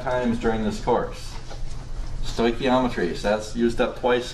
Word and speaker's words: stoichiometry: Who can pronounce this? Stoichiometry. And I like to say that I only say this word about 5 times during this course. Stoichiometry.